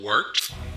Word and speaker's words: wort: This is the Wort on Govs Radio. It is the Wort. Not warts, not forts, not short.